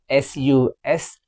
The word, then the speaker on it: suspicious: The next one, SUSPICIOUS. It's suspicious. Suspicious. Suspicious. Whenever a word is ending with CIOUS, we will spell it as shus, not CS.